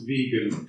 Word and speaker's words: vegan: Watson but before that I always talk about how to pronounce vegan it's often something that is not pronounced too well for people thinking to do with Star Trek and the stock and uh pagans and vogans and vocals but in natural fact we say Vegan okay so it just